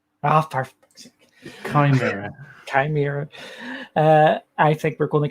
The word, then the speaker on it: Chimera: Project Chimera. Did I say it right? Perfect. Chimera.